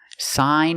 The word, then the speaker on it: sign: Now, let's look at these two words, sign and signature. So, we see when you have gn at the end of the word, the g is silent, too.